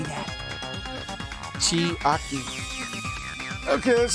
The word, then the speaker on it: Chiaki: Chiaki.